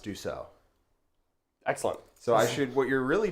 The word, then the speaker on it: Dussault: telling me that it's pronounced Dussault.